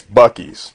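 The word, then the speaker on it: Buc-ee's: so even though it looks like Beauties it's Bucky's and we all know it looks like Whataburger but it's pronounced Whataburger hey it's also it's not Heap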